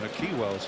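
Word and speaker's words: Nakhi Wells: Stephen Whittaker was there to try and stop Naki Wells from, or Naki Wells as we should say, that's how he likes it to be pronounced.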